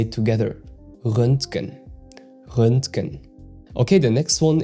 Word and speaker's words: Röntgen: And it's quite a unique sound. The umlaut Ö makes a big difference here. And the NTG sequence in the middle can feel clunky if you try to pronounce each letter separately. And the trick here is to soften it into a single flow. Röntgen. So the T in the middle is very subtle.